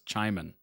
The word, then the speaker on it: Chimon: when I can tell chimone rhymes with oh Simon oh so it's chiman got it uh appreciate